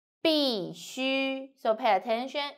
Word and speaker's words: 必须: So, C, U, 须, 必须. So pay attention, it's not U, it's U. 必须, 必须.